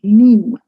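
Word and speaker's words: Nîmes: of this little town in south france called neem you know that's the name of the town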